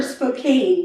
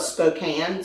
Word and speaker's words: Spokane: from that area and they call it Spokane but it's it's um spelled with a e so it should be a long a it should be Spokane listen but but I just